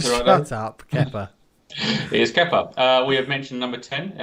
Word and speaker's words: Kepa: It's half a point if you can't pronounce it right. Shut up, Kepa. It is Kepa.